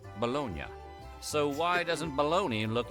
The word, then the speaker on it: Bologna: But in Italy, that city is pronounced Bologna.